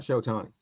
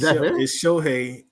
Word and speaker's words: Shohei: Okay, until they make the playoffs, Cam, I don't really want you statting me to death about Shotani. It's Shohei.